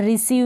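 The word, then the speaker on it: receive: फिर है सीज, क्या है सीज, और रिसीव में भी ऐसा ही है, ई आई को बड़ी ई के रूप में प्रोनाउंस कर रहे हैं।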